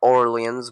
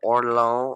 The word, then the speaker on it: Orléans: Uh Valdemar married Mar- Marie of Or- of not Orleans because that's the American way to say that. She was actually from France, so probably Marie of Orléans or something like that.